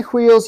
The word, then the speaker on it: wheels: cups and more Wheels when you say Wheels you don't have to pronounce the h 52 52 and 53